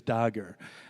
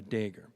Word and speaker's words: Dagher: So when he speaks, his uncle, when he's saying it in English, he says Dagher. And my dad says it the peasant way, Dagher. So there's no wrong way to say my name.